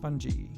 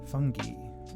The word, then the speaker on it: fungi: been bending the chaos but, I just enjoy [Fungi in three pronunciations] 'fun-guy... funjee... ... fungee (if you're European, I think...)'